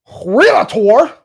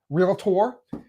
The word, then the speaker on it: realtor: Now if I was a licensed realator did I say it right? realtor.